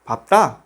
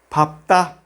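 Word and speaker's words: 밟다: Cuando la 받침 dupla 르, se queda bajo la sílaba pa, como esa palabra 밥다, se pronuncia la segunda consonante 프, 밥다, que significa pisar.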